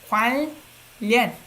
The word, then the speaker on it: 관련: Even for us, Koreans have a hard time saying 관련. So the way we pronounce it, it's not 관련. We change N to R.